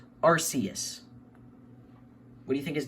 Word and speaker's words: Arceus: But yes, this is pronounced Arceus, but a lot of people pronounce it Arceus. But I think I've always thought Arceus sounded better, so I've always pronounced it Arceus.